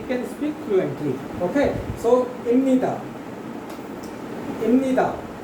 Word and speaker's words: 입니다: why the sound of ba will change into ma. So instead of calling it ibnida, we call it imnida.